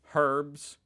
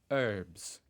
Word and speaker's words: herbs: like you say herbs herbs herbs H yeah I didn't know you guys pronounced the H I would have thought